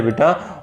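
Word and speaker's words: boat: ए आता है तो उसकी साउंड निकलती है बेटा ओ की, यानी उसमें ए जो है वो साइलेंट रहेगा, जैसे कि बोट, ठीक है, ये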